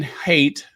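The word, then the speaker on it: Haidt: In honor of World Mental Health Day, Prince Harry led a significant discussion with Jonathan Hate. It's H AI DT. So, I guess the D is silent.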